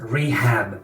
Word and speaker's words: rehab: Fijaos cómo he pronunciado la H, rehab.